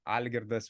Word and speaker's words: Algirdas: they would have like algorithas would be the the full pronunciation would be would be that